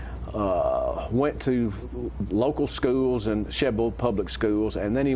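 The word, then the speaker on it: Shelbyville: Sheble? Sheble. Yeah, that's the correct way to pronounce it, John.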